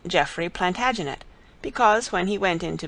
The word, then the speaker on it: Plantagenet: covered with his visor the latin name for broom is planta genista and gradually it came to be pronounced plantagenet although jeffrey was french